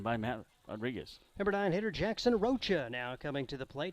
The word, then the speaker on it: Rocha: the game that um scott galicia had his name wrong for six months and jackson finally said okay my real name is rocha rocha so we apologize as well that's